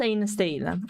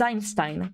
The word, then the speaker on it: Einstein: So like Einstein, that's the reason why indeed it's read in that way. It's not Einstein, it's Einstein, because EI is pronounced I in Deutsch.